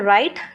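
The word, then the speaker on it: write: यहां इसे बोलते हैं राइट डब्ल्यू साइलेंट है।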